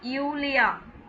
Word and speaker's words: Julia: நான் நேற்றே சொல்லியிருக்கேன், ஜே வந்து ஒய் ப்ரொனவுன்ஸ் பண்ணுவாங்க. Hello யூலியா. We Gates dear.